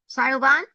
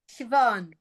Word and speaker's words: Siobhan: Good morning or good evening, but depending on where you are, Sayoban? How do you say your name? You're muted. Hey, Robin, how are you? It's Siobhan.